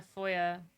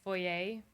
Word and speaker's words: foyer: it was in the foyer so I learned the other day that Americans say for yay and we say foyer and so it was